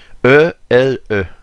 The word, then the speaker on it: Élie: en anglais elijob et il appelle Élie ele ça se prononce comme il lit comme le prophète Élie comme Elijah ici c'est